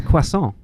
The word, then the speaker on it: croissant: How would you pronounce it? It's quason.